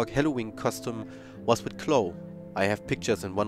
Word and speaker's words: Chloe: Yeah, and I guess it's pronounced Chloe because it's a French game.